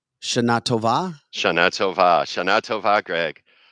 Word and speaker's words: Shana Tova: Phonetically, Shana Tova.